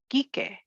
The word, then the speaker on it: Quique: as a slur, but in Spanish, we pronounce it Quique, which is actually short for the name Enrique.